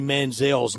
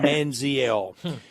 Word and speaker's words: Manziel: I did not even know the proper pronunciation of Johnny Manzel's name. I was calling him Manziel.